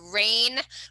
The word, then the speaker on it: RAEN: your brother in 2013 is called rain winery not spelled like the the the things that falls from the sky but we'll talk about